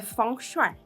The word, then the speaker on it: Feng Shui: E aí fiz um cursinho básico, né, do Feng Shui, que também a pronúncia correta é Feng Shui.